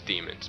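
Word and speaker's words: daemons: sure it's demons and they even pronounce it as demons but whenever you see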